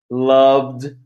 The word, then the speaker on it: loved: Loved, liked, liked, loved, lived. Então, tanto o lived quanto o loved, o som final é de D. E no liked, aqui, o som final é de T.